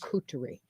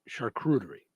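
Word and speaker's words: charcuterie: Shuterie, not shakurerie.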